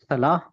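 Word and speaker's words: صلاة: आखिर में गोलता आ रही है ना, सलाह। सलाह होगी, ठीक है। फिर हम गोलता नहीं प्रोनाउंस करेंगे क्योंकि एंड पे आ रहा है। लेकिन अगर मैं सलाह और आगे अल फजर को मिला दूं तो फिर ता की साउंड वाजे होती है, ठीक है, सलाह तो सलातुल फजर।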